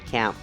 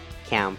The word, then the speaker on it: camp: So, and also please be careful of the word camp. Okay, so our company is actually NativeCamp, so we tried to pronounce the word camp as American A sound.